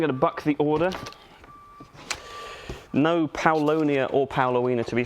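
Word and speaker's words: Paulownia: to your pronunciation of uh paoloina yeah paulonia okay well yeah you're right it's paulo near but um i've started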